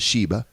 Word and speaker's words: Shiba: its pictures of a a Shiba inus it's pronounced Shiba it's spelled Shi B a and the dog